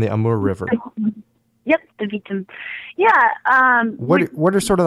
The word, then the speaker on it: Vitim: The Chilut, Lake Baikal, I forget how you pronounce it, the Vitim or the Vitim River, and the Amur River. Yep, the Vitim.